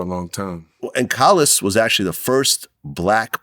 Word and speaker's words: Collis: Did I pronounce that right? Yeah, Collis. Collis.